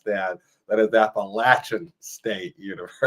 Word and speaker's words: Appalachian: The first thing I saw is that you graduated from Appalachian State University.